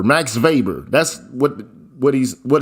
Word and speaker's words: Weber: look up max weber it's spelled weber like webr but it's german so that's how they say that's how they say the name okay max weber max weber that's what what he's